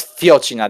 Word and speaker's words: fiocina: This is No, this is fiocina. This is actually has an accent. It has an accent on the first.